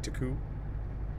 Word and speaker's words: Turku: not much noise yes I thought it was Turku but it's housing pronounced like Turku yeah cuz a dopant you don't see ours so it's like too cool yeah interesting well I could be wrong but